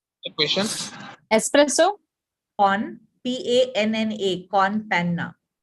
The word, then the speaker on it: con panna: don't remember it the question espresso on p-a-n-n-a con Panna it's a there's a drink called espresso con